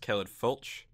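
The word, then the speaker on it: Caledfwlch: Yeah, apparently this team name is pronounced Caledfwich. We'll be going with that. That's what they told me, and I asked because I had no idea.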